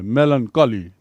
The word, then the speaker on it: melancholy: मेलनकली सीधा उच्चारण, चोली नहीं है, मेलनकली।